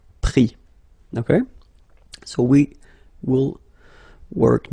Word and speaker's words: pris: Same thing here. Final S not pronounced, so prendre, pris.